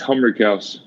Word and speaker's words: Humrichous: It's Humrichous.